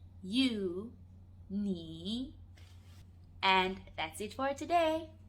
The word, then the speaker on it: 你: The second one, which is you, singular format, is 你. 你. So I, 我, you, 你.